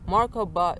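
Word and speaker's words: Merkaba: Markaba is 3 syllables, The Mar is the emotional body. I think that's what it. Yeah, the Mar is the emotional body. The Ka is the spiritual, mental, or energetic body, and then the marka,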